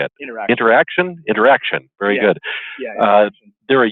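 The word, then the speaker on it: Interxion: the acquisition of the new, and I always pronounce it incorrectly because of the spelling, but it's how do you say it? Interaction.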